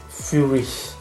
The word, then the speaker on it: Feurich: Okay, so now we know how to pronounce FEURICH.